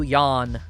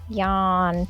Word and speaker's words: Yon: I wake you up and I show you Yon. Yawn. As in yonder mountains that you can see from a balloon.